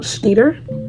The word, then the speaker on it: Schneider: I'm currently reading Metal Slinger by Rachel Schneider. That's how you pronounce it.